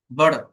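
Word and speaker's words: butter: Flap টি ড এর মতো হয়। যেমন দেখেন ফ্লাপ টি, ফ্লাপ টি মানে কি জানেন, যেটা ভাষা থাকে, ভাষা, অর্থাৎ বার্ডার, বার্ডার, অর্থাৎ ফ্লাপ, ফ্লাপ করতেছে, বার্ডার, বাটার নট বাটার, বার্ডার, বার্ডার, মাখা।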